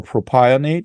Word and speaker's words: propionate: um whether it be calcium proprionate um or propionate as some some like to pronounce it or uh things like